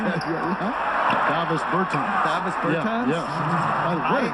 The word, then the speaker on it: Davis Bertans: Oh, now, at this point in my life, it's Davis Bertans. Is that how you say his name? Yeah. Davis Bertans.